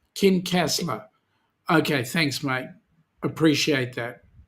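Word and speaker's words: Kincasslagh: odonnell oh yeah okay how do you pronounce it kin castler okay thanks mate appreciate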